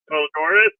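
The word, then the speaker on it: Poledouris: I I used to listen to it without end and never got tired of it by I can't even pronounce that. Polodoris.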